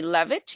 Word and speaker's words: Leavitt: it is Andre Levitt, and the last name is spelled Leavitt. And so it's Andre Levitt.